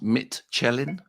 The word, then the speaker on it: Michelin: Um, the lives uh wanted uh wanted a Michelin star wanted to eat wanted to in to immerse themselves in Michelin star. It's pronounced Mitchellin. Mittelin star. My apologies.